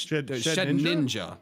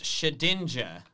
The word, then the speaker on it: Shedinja: I just hated that you pronounced its name wrong. But it's Shed Ninja, right? No, it's Shedinja. Why would it be called Dinja? Yeah, there's no N before the I.